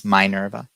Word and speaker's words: Mynerva: is spelled v m-y-n-e-u-r-v-a it's like minerva but it's mynerva and uh or um they